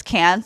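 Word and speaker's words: Cairns: it's squir though CU it's spelled k a i r NS but it's cans they're like we're just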